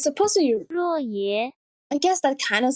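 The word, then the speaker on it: 若邪: Xie Lian tries to distract the brides with Roy.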